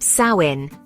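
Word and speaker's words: Samhain: Fact number one, Halloween's roots go back over 2,000 years to the Celtic festival of Sam Hayne, pronounced Sain.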